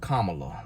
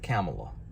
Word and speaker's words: Kamala: there doing uh and her name pronounced kamala like a comma listen to her say it no kamalas not camelot now joe and kamala